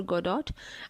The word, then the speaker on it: Godot: आज का टॉपिक है वेटिंग फॉर गोडॉट। अच्छा, ये गोडॉट स्पेलिंग में है लेकिन इसे गोडॉ कहते हैं।